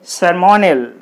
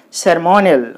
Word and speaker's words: ceremonial: And last one is ceremonial. Ceremonial. What are the syllables? Sir. Mo. Nal. C-E-R-E. Sir. M-O. Mo. N-I-A-L. Nal. Ceremonial. So this word is ending with I-A-L.